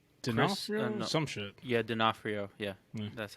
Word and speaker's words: D'Onofrio: Yeah, D'Onofrio.